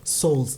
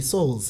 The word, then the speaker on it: Souls: Yes, we've got Jabu Souls. Did I say it correctly? Souls. Souls, yeah. That sounds so international. Jabu Souls. Isn't like a soul. A soul, yeah.